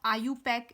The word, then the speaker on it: IUPAC: इसको हम आयु पैक ऐसे प्रोनाउंस भी कर सकते हैं।